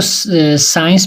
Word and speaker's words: science: अभी देखो साइंस भी ले लेते हैं SCIENCE, साइंस भी है. तो एस के बाद सी भी क्या हो जाता है, साइलेंट हो जाता है.